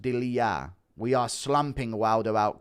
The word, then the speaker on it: Delija: Delija is pronounced Delija.